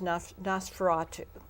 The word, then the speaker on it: Nosferatu: So the centerpiece you mentioned before is Nosferatu. Am I pronouncing that correctly?